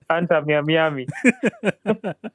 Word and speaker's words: Inter Miami: The name of Messi's team is Inter Miami, not Inter Miami.